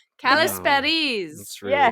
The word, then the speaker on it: Kalisperides: Kalisperides. Kalisperides. That's really Yeah.